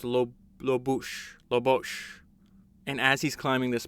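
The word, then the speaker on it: Lobuche: I think it's pronounced Lobosh.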